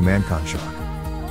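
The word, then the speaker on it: Mankanshoku: is pronounced senkates her friend Mako mankonshaku is pronounced Mako mancon shock subtitles occur often for on-screen Japanese kanji so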